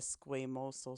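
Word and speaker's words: squamosal: the pridal bone and the way that it is pronounced as the sosal suture okay and you can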